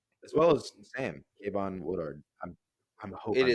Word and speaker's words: Woodard: Yeah, just this episode he was perfect as Henry as well as Sam Kvon Woodard. I'm I'm hope it is Woodard. You're doing good. I hope I'm pronouncing that right.